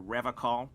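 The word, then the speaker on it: Revachol: I like to pronounce it the hard way, the old way, the Vespertine way.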